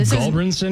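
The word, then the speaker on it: Gulbranson: So, Luke Goldbranson, is that how you say him?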